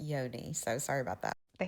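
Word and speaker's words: yoni: Yanni oil tasty. I learned at the store that Yanni means vagina. It's actually pronounced yodi.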